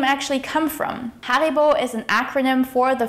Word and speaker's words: Haribo: of the biggest candy brands in the world, Haribo. Haribo macht Kinder froh und Erwachsene ebenso. The proper way to pronounce Haribo is Ha-ri-bo. But where did the name actually come from? Haribo is an acronym for the founder's name and hometown.